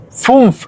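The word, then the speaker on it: fünf: Pero la U lleva una diéresis, un umlaut, los dos puntitos arriba. FUNF. Por eso no suena tal como U, sino como FUNF. FUNF. FUNF. FUNF. FUNF. Suena un poquito diferente.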